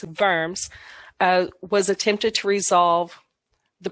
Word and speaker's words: Worms: know it looks like worms but it's german so the w is pronounced like a v it's in verms was attempted to resolve